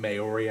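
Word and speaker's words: Māori: from New Zealand so he's um mayori I believe is the correct pronunciation of that um think so I I and it's like m a o r i um but yeah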